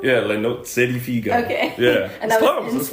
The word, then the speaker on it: Le Nozze di Figaro: And then you performed opera roles, including Figaro in, I don't know if I can pronounce this, La Nozze di Figaro? Yeah, Le Nozze di Figaro.